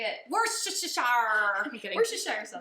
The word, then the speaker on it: Worcestershire: Worcestershire. I'm kidding. Worcestershire sauce. Worcestershire sauce.